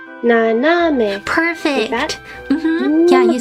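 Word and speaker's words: 斜め: I shouldn't say it goes up. It's more flat. 斜め. It's more like the middle one goes up a little bit. 斜め. 斜め. naname.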